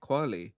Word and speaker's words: Kweli: Kweli.